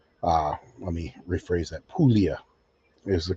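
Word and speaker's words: Puglia: Um, she was bred to an Italian stud, an Italian dog from Pugila, Italy. Uh, let me rephrase that. Pulia is the correct pronunci pronunciation. Pulia. P U G L I A pronounced Pulia.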